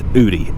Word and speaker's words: Udi: with udi okay so it is pronounced ooty in case you were you know wondering or confused it is ooty it is actually my